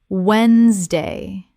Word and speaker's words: Wednesday: Repeat, Wednesday, Wednesday. Word 2, February. Common mispronunciation, February.